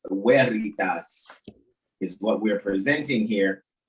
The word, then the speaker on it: Veritas: Veritas, because in the Latin, right, the V is pronounced with the W sound, all right?